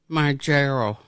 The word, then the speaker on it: Mounjaro: Mounjaro? Mounjaro.